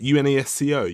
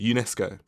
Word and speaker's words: UNESCO: UNESCO, UNESCO.